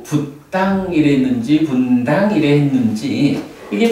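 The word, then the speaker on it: Buddhaṃ: 계속 그 발음을 하는데 붓당이라고 발음을 안 하고 분당이라고 발음을 하는 거야.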